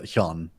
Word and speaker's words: Hyun: it right okay so not a g at the end just Hyun so um any um